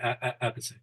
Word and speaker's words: Appice: So he told me, Carmine told me himself that he changed it to a piece because nobody could pronounce it the way it's supposed to be pronounced. So he's like, screw it up, just a piece.